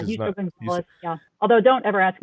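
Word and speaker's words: Justo González: Is it Justo Gonzalez? Is that how you say his name? Justo, is that my Spanish? Yeah, Justo Gonzalez.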